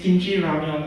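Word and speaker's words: 김치라면: So it's it is kimchi ramyeon. Okay. So it's the same as ramen, but the Koreans pronounce it differently.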